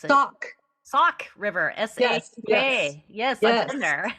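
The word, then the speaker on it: Sauk River: How do you pronounce it? Sock. Sock River.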